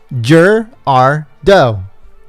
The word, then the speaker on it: Gerardo: right jur he says pronounce it jur as in jurassic park r as in the letter r and do as in a female deer jur r do i guess that's how